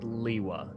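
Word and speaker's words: Lewa: It's pronounced Liwa.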